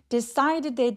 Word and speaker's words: decided: decided의 D는 모험사에 끼워서 굴러가는 소리로 decided.